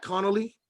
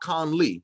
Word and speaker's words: Connolly: say his name is his name is connolly and connolly not conley like d.a connolly yeah noli like john connolly but just look up